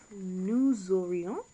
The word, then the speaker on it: nous aurions: Nous aurions, so remember that liaison.